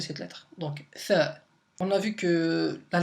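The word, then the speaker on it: ث: bon ça se prononce Tha. Donc Tha, c'est comme un petit peu comment dire, le TH en anglais, dans le mot 3, donc 3, ça se prononce TH, donc on sort un peu la langue pour prononcer cette lettre.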